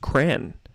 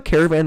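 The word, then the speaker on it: Kraan: of just meh uh it's pronounced cran oh oh that makes a lot of sense crayon okay but you guys can see how caravan makes sense though right because if you just get rid of all the a's that's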